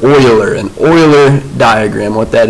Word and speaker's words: Euler: argument or syllogism and this is pronounced not your but euler an euler diagram what